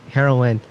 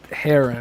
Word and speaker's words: Heron: that top 4, and Heroin to round out to top 5. Oh my gosh, I don't know how to say his name. Stop calling him Heroin, bro. That's not good. It's just Heron.